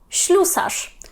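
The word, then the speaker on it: ślusarz: трішки нівелюється пишіть чим шлюсаж шлюсаж шлюсаж це слюсар тобто така професія так на початку маємо ш S ми читаємо м'яко тобто читаємо це як звук щ з м'яким знакомь шлю Са і в кінці Нарешті rezet ми читаємо як ж тому що не маємо перед ним п к т т х так маємо голосну тож читаємо його як ж як в слові жаба трішечки воно там в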